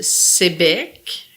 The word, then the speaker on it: Sayabec: Dans la vallée de la Matapédia, dans la vallée, un petit village qui s'appelle Sébec, qui s'écrit Sayabec.